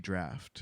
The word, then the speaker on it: draught: I think it just is pronounced draft. Isn't Why are it? they yelling? DRAUGHT draft.